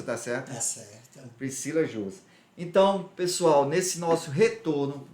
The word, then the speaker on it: Priscila Jursa: A pronúncia está certa? Está certa. Priscila Jursa.